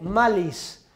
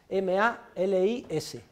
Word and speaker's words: malis: tú, que está cogido de Virgilio, tú, como se escribe en español, ne, ne, cede, cede, tú ne cede malis, M-A-L-I-S, tú ne cede malis, sed, S-E-D, contra, como